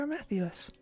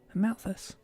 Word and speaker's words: Amalthus: Malolo just here to listen to very inspiring talks about glorious teachings of Praetor Amathius. Amalthus. Why do I keep saying the name wrong?